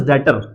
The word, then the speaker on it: debtor: आपके पास, that is डेटर, है ना। इसकी स्पेलिंग DEBTOR होती है, बड़े इसमें बी साइलेंट है आपका, इसे हम डेटर पढ़ते हैं।